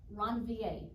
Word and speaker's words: Ranvier: These little nodes here of unmyelinated axon are called nodes of Ranvier, is how you pronounce that.